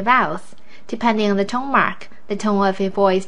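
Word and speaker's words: 妈: the tone Mark yes the first tone is a flat tone and the tone Mark is the straight line it's almost like you're saying you pronounce words that have this tone in a high steady voice for example ma ma this word means mother you can input the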